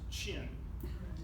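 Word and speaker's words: Qin: have the and again why a cue when it's pronounced chin i don't know yeah somebody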